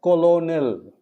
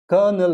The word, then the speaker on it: colonel: colonel it is not colonial it is not colonial it is wrong it's kernel is important remember this is